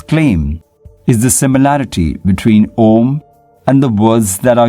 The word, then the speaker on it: Om: name of this word how can we pronounce it as the mystics will tell you the name of the word is om it is the original